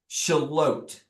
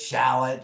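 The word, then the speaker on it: Shallotte: to to go um shalot shalot oat oat oat everybody pronounces it shallot or something else but shalot um is a very very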